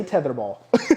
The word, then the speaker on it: tetherball: You're adding D's where there is no D. It's not a D, it's a T.